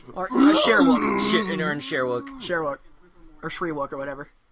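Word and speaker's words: Shyriiwook: Sherwook. Or Shrewook or whatever. Well, it's spelled weird, but it's called Sherwook.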